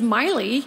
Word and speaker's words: Miley: I quote Jesus Christ Kathleen what's happened to Molly Cyrus I Know M I know I should have corrected her once again I should have said mother her name is Miley you've pronounced it incorrectly but then I was